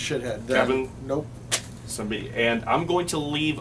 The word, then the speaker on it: Siembieda: All right, so it's Polish. The American pronunciation is Sambita. Sambita. Szembiera, if you're Polish.